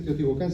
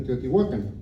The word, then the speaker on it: Teotihuacán: Teotihuacán, pero en realidad no debería decirse Teotihuacán, sino Teotihuacán. Y dice, es un error que debemos a la incapacidad española de pronunciar bien ninguna lengua, ni la suya propia.